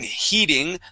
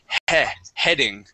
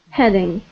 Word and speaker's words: heading: Now this word here, I know in most cases when you have an E and an A together, that makes a long E sound. Okay. But instead of saying heating, the word has a short E sound. The word is heading. Heading.